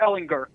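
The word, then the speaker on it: Ehlinger: That's a touchdown a quarter for Ellinger with the hard G again.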